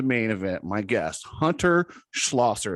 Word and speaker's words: Schlosser: My guest, Hunter Schlosser. Is that how you say it? Yep, that's right.